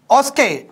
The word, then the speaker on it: OSCE: that's that's why this oscar oscar is a pronunciation of osce or sk addresses a